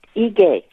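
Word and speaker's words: Ige: ahead yes governor um the governor of Hawaii's name is pronounced a gay he gay okay thank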